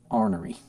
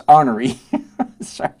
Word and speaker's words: ornery: course just because I'm ornery mispronouncing that word on purpose - just because I'm artery sorry you you non-english speakers the word is ornery but if you're from the south it's honoré and if you can